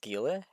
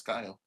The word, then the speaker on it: Guile: Isn't it pronounced Gile? No, it's Guile.